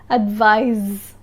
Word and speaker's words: advise: conduct advice and advice the sea of advice sounds like s advice advice and the s of advise sounds like a z advise advise advice is a noun